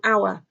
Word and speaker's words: hour: So if the H is silent, they sound like they start with a vowel. So you actually use an. So an honour, an hour.